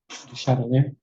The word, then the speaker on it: Duchalier: So, I'm saying your name wrong and you told me last time, but you say it for me. Shadow. Oh, I wasn't very close. To shadow.